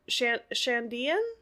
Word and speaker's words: Shandian: How do we pronounce that? Shandian. Chandian. Shandian.